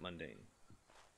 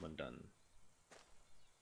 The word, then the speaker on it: Mundaun: Am I saying that right, Mundaun? Or is it mundane? I think it's pronounced Mundaun.